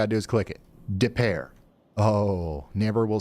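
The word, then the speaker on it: Des Peres: How do you say it? Depair. Depair. Okay.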